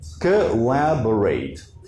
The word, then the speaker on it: collaborate: Here, collaborate. So collaborate. Collaborate. All the stress goes directly to what comes after.